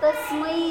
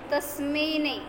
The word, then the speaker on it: तस्मै: उच्चारणामध्ये कृष्ण ऐकू आल परत तस्मै आहे तस्मेने एक एक काय म्हणायचं एक मात्रा नाही दोन मात्रे आहेत तस्मै म्हणजे कोणतरी शुद्ध